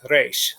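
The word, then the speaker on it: ריש: spoken in Israel, then this letter is pronounced more like resh, a slight rolling R. I've been told that it's comparable to a French R or a German R.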